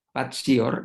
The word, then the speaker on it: patior: Karena konsekuensi orang mengatakan passion itu adalah akar katanya bahasa Latin, tulisannya patior, membacanya patior, itu artinya suffering, menderita.